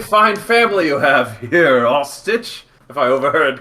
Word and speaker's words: Austache: So his name is spelled Austache. Okay, it's AU, not O. Yeah, Eache. Yeah, it's sort of like mustache, but it's Austache. Almost got it right.